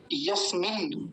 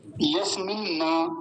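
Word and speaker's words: यस्मिन्: confusion रहता ही है यसम यसम ना ऐसा नहीं बोलेंगे यसम ये गलत है एक बार फिर से गलत उच्चारण फिर से सुनिए यसम ये गलत है यस्मिन ये बिल्कुल ठीक है यस्मिन दो नकार है दोनों का हल्का हल्का सा उच्चारण आएगा यस्मिन रिच तो क्या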